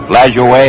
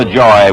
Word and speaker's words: Lajoie: Pronounce it LaJoie or LaJoy, whichever you like, still alive.